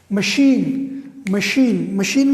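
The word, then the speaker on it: machine: اسی طرح آپ لوگ دیکھ لیں مشین میں شین ہے, یہاں پر سی ایچ دیکھ لیں, مشین میں اس کی تلفظ کیا ہے, شین, ٹھیک ہے.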